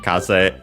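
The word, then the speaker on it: 風: Kaza fuku uh by the way kaz means wind. It's the Japanese word for street is Japanese word for wind. Kaz unexented and so Kaza Fuku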